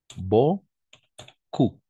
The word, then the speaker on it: beaucoup: Ici, la combinaison de voyelles. Par exemple, A-E-E, A-U, on va prononcer O, n'est-ce pas? E-A-U-O. Et O et U, on va prononcer OU. Beaucoup.